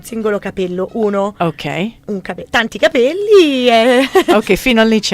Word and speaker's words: capelli: Tanti capelli. Ok, fino a lì ci arrivo. Solo che a seconda della pronuncia, capelli o cappelli.